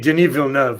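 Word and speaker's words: Denis Villeneuve: yeah well I mean genevil nov which is that's how you say his name by the way I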